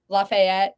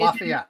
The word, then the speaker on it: Lafayette: Lafayette, right? Oh, Is Lafayette.